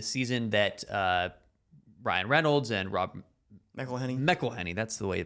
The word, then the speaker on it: McElhenney: Okay, so back in 21-22, the season that Ryan Reynolds and Rob McElhenney, that's the way to pronounce it, when they bought the team, they were in the English National League, which was the 5th tier.